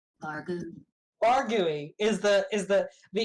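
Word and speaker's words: vargouille: I think it's pronounced varou but it's v a r g o u i l l e let's find out actually it's French so you know um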